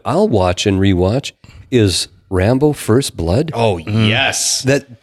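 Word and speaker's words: Rimbaud: it's our imba ud in that pronunciation in France French is Rambo and I'm wondering whether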